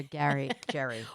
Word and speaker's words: Jerry: I'll never get over Jerry. Well, it's spelled like Jerry, but it's pronounced Gary.